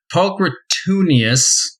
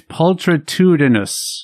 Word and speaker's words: pulchritudinous: Pulchritudinius, or however you pronounce that, is physically beautiful. I would say it's pulchritudinous.